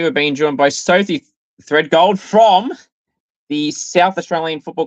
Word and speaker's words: Thredgold: yeah you do um how do you pronounce it for the people that have the problem of pronouncing your last name um thread gold thread gold there you go so